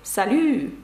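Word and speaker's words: salut: що це приголосна французькою щоб сказати Привіт - це слово і пишеться воно з літерою Т наприкінці це приголосна вона не вимовляється це легко запам'ятати салю Привіт є красиве слово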